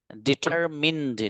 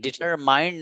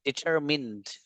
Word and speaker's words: determined: ये वर्ड है डिटरमिन्ड, डिटरमाइंड नहीं, डिटरमिन्ड।